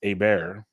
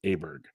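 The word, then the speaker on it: Åberg: pronounce the last name and over there it's a bear but the reporter said an acceptable U.S pronunciation is aberg so part of me is like are you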